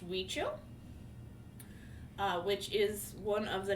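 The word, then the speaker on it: Huichol: gonna pronounce it and they don't look the same because it's a spanish word so there's a spelling it's pronounced we chill which is one of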